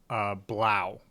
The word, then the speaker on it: Blough: away uh oh man I don't even know if I'm pronouncing this this name right David blow Wow yeah they they pronounced it during the at least announcers were pronouncing it as Blau Wow that's out spelled